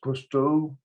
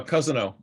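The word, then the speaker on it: Cousineau: from i think it's custo or how do you say it norm uh cousino yeah because no uh he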